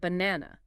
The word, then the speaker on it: banana: a word for example the word banana the stress is on the second syllable n okay so we say banana not banana or banana got it so why is